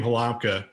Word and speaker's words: Halamka: And so Halamka is how a U.S. person would say it.